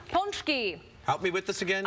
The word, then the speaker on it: pączki: more than one ponki a lot of you guys in Chicago eat them but you say them wrong how do you say it they always say we're going out for the ponchies but that's more than one so what's the singular